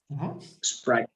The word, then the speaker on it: Sprite: Sprite. Right. So most of them say they say it like this. But in English you only say just the S, just like you would say what's the word for simple in Portuguese?